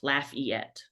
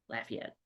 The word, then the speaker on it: Lafayette: is one of those it is laugh like haha the letter and ET laugh yet laugh yet whatever oh my gosh